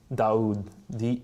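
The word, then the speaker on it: Daud: Can you the IBN, can you respell that full name again? Yeah, so it's Ibn, IBN, Abi, A-B-I, Daoud, D-A-U-D.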